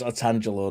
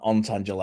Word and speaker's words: Otangelo: In the in the same in the same compassionate uh and is Otangelo, not on Tangelo.